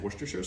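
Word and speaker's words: Worcestershire: um soy sauce and woristershure sauce. And yes, that is how you say it. I'm from originally the Worcester area, so it's not something that's weird to me to say.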